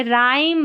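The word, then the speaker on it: rhyme: आर एच में H silent रहता है। जैसे राइम रिदमम और राइनोसर्स में आर एच साथ में आया है। यहां पर आर को हम पढ़ रहे हैं। एच को हम नहीं पढ़ रहे हैं।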